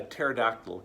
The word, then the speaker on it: pterodactyl: and they said hey why can't you hear a pterodactyl go to the bathroom because the p is silent now maybe that's not